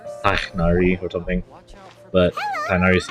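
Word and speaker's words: Tighnari: They Tainari, that's how the games were pronouncing it.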